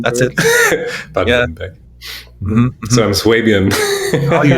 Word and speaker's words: Baden-Württemberg: So I don't know the English pronunciation. Baden-Württemberg. That's it. Baden-Württemberg.